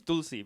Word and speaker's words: Tulsi: There's a T that you say with your tongue on the teeth, like the.